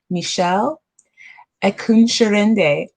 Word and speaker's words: Mishelle Ekunsirinde: so excited about our guest today we have michelle eckunscherende did i say it right you do yes